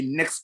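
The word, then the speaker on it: NAICS: write something called a next code that is something you need to write down next code is spelled n a i c s and I'm writing it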